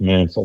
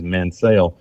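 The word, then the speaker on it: Mansell: reports as Manel Road my great grandmother was a Mansel has pronounced Mansel the family pronounce is it Mansel but now all the people that have come in the community afterwards have changed the pronunciation is Manel but you know something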